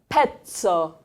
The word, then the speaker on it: pezzo: E l'ultima, the last word, there are 2 Z's. It sounds like pizza. The sound still is pezzo.